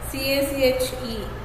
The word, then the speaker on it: cache: So how to pronounce this? So here the pronunciation is written, okay, C-A-C-H-E, so cache, so it can also pronounce cache, but the actual pronunciation is cache, C-A-S-H.